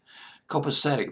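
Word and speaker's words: Copacetic: did very well called copasetic copasetic believe is how you pronounce it co PA cets which did very well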